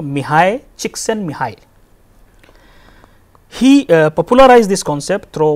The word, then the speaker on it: Csikszentmihalyi: It is pronounced somewhat like, you know, Mihai, Csikszentmihalyi.